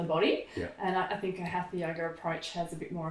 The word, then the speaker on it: hatha: And you talked about hatha yoga. Maybe I didn't get the pronunciation right.